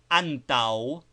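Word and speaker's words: antaŭ: To say antau, for instance, we say anta and finish by bringing the lips slightly together to pronounce the wo.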